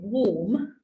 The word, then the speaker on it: warm: So if you think of the word warm, warm is not warm. The sound A in warm doesn't make an A sound because it's got W in front of it.